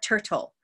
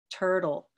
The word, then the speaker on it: turtle: here turtle okay so this second T doesn't behave in the same way it's not turtle and that's because it's not in the stress syllable if it were at the beginning of a syllable sorry if it were at the beginning of a syllable would be aspirated but this one it behaves more like a turtle turtle so I might put a little line through this and prefer the do and if we're still